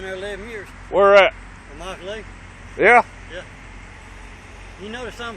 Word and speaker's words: Immokalee: Immokalee. Yeah? Yeah. You notice I'm pronouncing it right, don't you? Yeah, Immokalee. Yeah, you say Immokalee pretty good there, buddy.